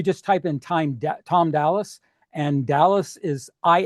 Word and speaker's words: Dallis: and I tell people even though it's pronounced like the city I'm an is not